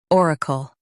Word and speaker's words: oracle: or uh kul oracle Stress or and keep kul light.